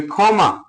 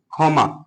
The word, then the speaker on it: ক্ষমা: তো একটু দেখবো যে ক্ষমা যুক্ত খ বা ক্ষিয় শুরুতে আছে, যার ফলে উচ্চারণটা কি হবে? ক্ষমা।